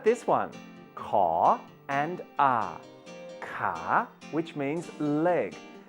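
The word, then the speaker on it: ขา: Ka, which means leg. Did you remember to pronounce the ka with a rising tone?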